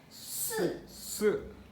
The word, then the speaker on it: 四: So the first character here is the 4th tone, 四.